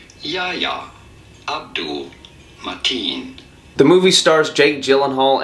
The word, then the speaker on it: Yahya Abdul-Mateen: In the DC Extended Universe superhero film, Aquaman, how do you go about pronouncing his name? Yahya Abdul-Mateen.